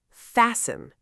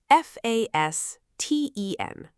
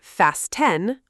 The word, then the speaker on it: fasten: The T is completely silent. We do not say fast ten, we say fasten.